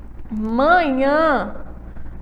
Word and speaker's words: manhã: oxítona terminada em a Olha só manhã manhã então aí a sílaba for fiel é Afinal certo e ela é uma oxítona e do outro lado